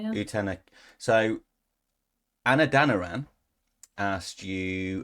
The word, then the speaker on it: Utena: which is it utena is that how you pronounce it utena yeah utena so Anna danan asked you which utena character